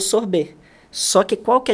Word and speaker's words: sorbet: E existe um sorvete que, na verdade, assim, o nome internacional chama sorbet, né? Ele pronuncia com B-E-T mudo, que ele é uma